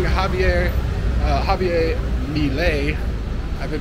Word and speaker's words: Milei: I've been pronouncing Javier Milei. I've been pronouncing his name wrong. I've been saying Milei, like adding an extra I in there. But it's not. It's Milei.